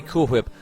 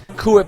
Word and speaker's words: Cool Whip: H where you say Cool Whip Cool Whip it's not cool whip it's cool whip Cool Whip why are you pronouncing the H what's up ier there